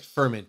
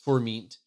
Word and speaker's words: Furmint: The most famous is Furmint, or it looks like ferment, but it's Furmint.